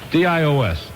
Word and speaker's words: Dios: Is it Cantina Del Dios or Dios? How's it spelled? D-I-O-S. Dios. Dios, right, okay.